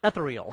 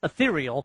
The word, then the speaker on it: Ethereal: but uh it's ethereal I always want to call it eal but it's ethereal any case just do